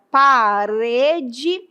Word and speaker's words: parede: Quando eu falo a palavra parede, qual é, eu pergunto para você, qual é a sílaba mais forte? Pensa aí. Parede. Com certeza você vai dizer o re. Veja que o re é a sílaba forte.